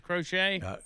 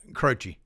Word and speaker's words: Croce: Crochet? Croce.